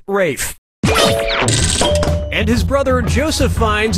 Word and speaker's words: Ralph: two yep RAF Fine's first name is spelled like Ralph but pronounced Rafe and his brother Joseph